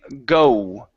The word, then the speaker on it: go: it's different than saying go. Okay, so when we pronounce our O, we start off wide, okay, or halfway wide, and then we move to an oo.